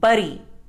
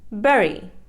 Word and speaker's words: berry: silent berry it is mispronounced as buri the correct pronunciation is berry dengue it is mispronounced